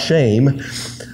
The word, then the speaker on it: Shem: by the name of shim shims name in the Hebrews actually pronounced shame but it's no shame